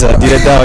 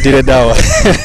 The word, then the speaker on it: Dire Dawa: Talking of which, you are based in Ethiopia as we speak, playing for Dire Dawa. Is that the right way to say the name anyway? Yeah, it is. Dire Dawa, Dire Dawa.